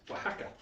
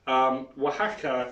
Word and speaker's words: Oaxaca: So that's pronounced Oaxaca. And you may know Oaxaca from the restaurant chains with a W, but the real spelling is with an O. Oaxaca is how you pronounce that. So Oaxaca is the home of mezcal.